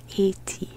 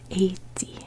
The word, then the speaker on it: Haiti: island they pronounce it eighty eighteen h is silent eighty and it's because the